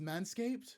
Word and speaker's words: Manscaped: Oh, it's just pronounced Manscaped?